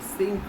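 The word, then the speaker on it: sinc: the same but the sink and cyanum are quite different parts this think function is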